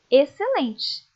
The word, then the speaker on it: excelente: México deixar muito bem o x também aparece em algumas palavras só para marcar posição sem indicar som algum Leiam comigo exceto exceção excelente perceberam que essas palavras o c é pronunciado o x acaba ficando sem ser pronunciado como tem o C ali apenas aparece o som dele mesmo OK agora vamos estudar a